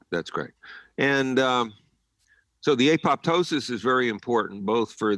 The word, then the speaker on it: apoptosis: up following EMF exposures what's called apoptosis sometimes pronounced apoptosis programmed cell death goes